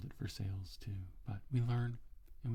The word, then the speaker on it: Versailles: nearby to a town it is spelled the same way so it should be pronounced versailles but it is not it's for sales and everybody calls it